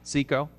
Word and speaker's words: SICO: CECO. Yeah. I'll pronounce it that way.